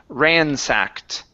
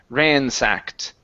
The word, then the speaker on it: ransacked: This word here is pronounced ransacked with a t sound at the end. Ransacked.